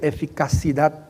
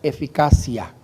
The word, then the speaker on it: eficacia: el otro mensaje porque en francés se dice efic pero en español no se puede decir eficaci Dad sino que en español la palabra correcta es eficacia y lo corrijo por